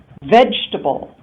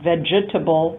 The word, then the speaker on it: vegetable: Vegetable, not vegetable, but vegetable. So 3 syllables, vegetable.